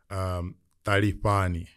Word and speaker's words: Talifhani: Talifhani. That's how you pronounce it.